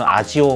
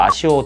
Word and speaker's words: ASIO: asio 드라이버라고 얘기를 하고요 영어 발음은 외국 사람들은 아지오 뭐 이렇게 발음을 하기도 하던데 국내에서는 그냥 스펠링 대로 아시오 드라이버 이렇게 얘기를 많이 합니다 어쨌든 그 드라이버를 지원을